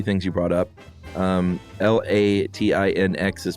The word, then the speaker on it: Latinx: Um, L A T I N X is pronounced, she says, Latin X.